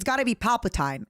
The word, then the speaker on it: Palpatine: So I was also like it's Palpatine. Yeah. Like Byzantine. Palpatine. Like Byzantine. What do you mean? Wait, stop. WHAT DO YOU MEAN THAT'S NOT HOW you say Byzantine? The Byzantine Empire.